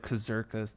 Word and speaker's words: Kurzgesagt: um i don't know how the heck to pronounce that channel's name but it starts with a k it's like kazarkist something okay well maybe we can put it